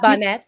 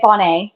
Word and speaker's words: Bohnet: to have you here did I pronounce your last name correctly Bonnet yeah Bonnet pronounce yeah okay yeah unless I'm feeling fancy then people say Bonet Bonet that works